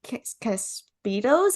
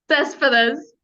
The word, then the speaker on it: Cespedes: I'm so happy to welcome Ari Caspitos. Is that how you say it? Cespedes.